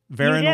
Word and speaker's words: Varon: last name right right verona like heron like the bird that was the little tip you gave me yeah it sounds like heron it's not spelled like karen right certified naturally grown